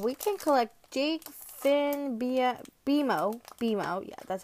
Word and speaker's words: BMO: Okay, but we can collect Jake, Finn, BMO, yeah, that's how you say it.